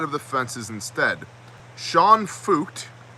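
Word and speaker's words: Feucht: the fences instead sean fucht i'm thinking that's how you pronounce that f-e-u-c-h-t um we're gonna go with fucht because it sounds like it might be pronounced f-u-k-t which is not something we're going to say here on youtube sean fucht of sean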